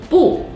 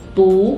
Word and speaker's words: 不: second one is about the tone variation of 不. 不 means no. It has two different tones. When it's followed by a syllable in the first, second, or third tone, it should be pronounced as the fourth tone, just like 不吃, 不行, 不好. But if it's followed by a syllable in the fourth tone, it should be the second tone, just like 不会, 不是.